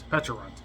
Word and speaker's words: Pecharunt: I can't remember how it's spelled or said. Pecharunt.